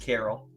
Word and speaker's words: Micah Carell: Brad Gilbert Micah Carell it's actually pronounced Carol David falconier Michael dermanuelian